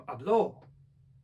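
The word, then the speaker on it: habló: Ja mówię hablo, yo hablo, akcent na pierwszą, ale gdy powiem hablo, no to jest już przecież czas przeszły trzeciej osoby, czyli on powiedział hablo, więc to jest bardzo ważne.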